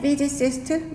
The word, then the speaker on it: physicist: 거기 출신의 physicist. 요거는 여기서 우리가 PH 발음은 주로 F 발음이 나서 physicist 뭐다?